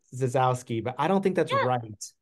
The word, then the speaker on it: Zasowski: it's pretty fanatic but the S is pronounced like a z so Z yeah well